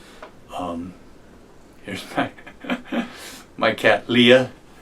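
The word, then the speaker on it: Liath: to the Capo um here's my my cat Leah it's spelled l i a t that's Gaelic for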